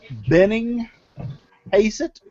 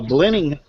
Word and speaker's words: Blennerhassett: And the drum roll is Mike Benning Hazett. Mike Benning Hazett. I hope I pronounced your name right. It's a Blenner Hazett.